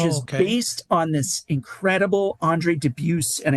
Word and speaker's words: Andre Dubus: based on this incredible Andre Dubus, and I know that sounds strange to pronounce it that way, but I believe that's how he pronounces it.